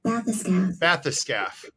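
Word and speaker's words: bathyscaphe: this scaff hold on matheson bath the scaf bathyscaf there you go bathyscaf so so it's a it's an underwater they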